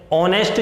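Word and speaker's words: honest: व्यक्ति है इस वंश ऑनेस्ट जो वर्ल्ड है उससे देते ओवल के साउंड निकल रही है क्योंकि इसमें भी accident है ऐड साइलेंट होने की वजह से निकलने वाला जो साउंड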